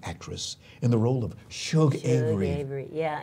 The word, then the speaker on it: Shug: in the role of Shug Avery. Avery. Yeah, and people spell it S-U-G. Yes. Like, it comes out like Sug, but I know what they're talking about.